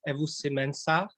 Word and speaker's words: Ewusi-Mensah: pronounce your name so correctly please if i pronounce wrongly but david evo simensa is it correct you did a great job